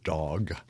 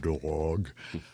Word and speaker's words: Dag: The first name is all right. It's Dag. It's not dog.